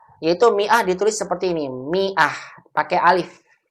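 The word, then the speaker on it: مائة: Mia ditulis seperti ini Miah pakai Alif Alif nya nggak dibaca-baca kunjungi ah begini Miah huruf alif pada kata tersebut tidak dibaca sehingga kita bacanya Miah Bukan dibaca Maaf tulisan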